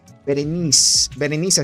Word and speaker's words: Berenice: Dice Berenice, así se pronuncia. Un saludito para tu hermosa mujer de tu vida, obviamente. Berenice, espero que te la pases muy bien.